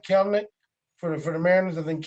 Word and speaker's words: Kelenic: Kelenic. It's Kelenic. Don't pronounce the extra E. It's just Kelenic.